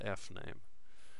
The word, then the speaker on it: fname: And fname is a string in which we are going to store the user's first name.